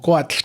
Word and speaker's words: coatl: O Coatl, como lo pronuncian en náhuatl.